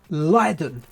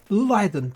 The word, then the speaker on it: Raiden: And it's pronounced Leiden. Leiden.